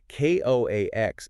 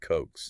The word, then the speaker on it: coax: And the key thing to remember is that Ko Ax is just an abbreviation for coaxial. For coaxial. And because of that, it has to be pronounced with two distinct syllables.